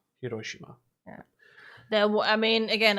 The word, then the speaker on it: Hiroshima: Hiroshima is English. Hiroshima is the Japanese pronunciation. Hiroshima.